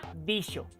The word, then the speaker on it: dijo: sus sonidos por ejemplo el sonido de la letra j no existía en el siglo 15 por lo que una palabra como el verbo dijo se pronunciaba dicho y se escribía con x lo que han visto